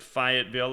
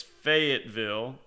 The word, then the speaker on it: Fayetteville: Thanks for correcting me. I pronounced it Fayetteville. I guess it's Fayetteville.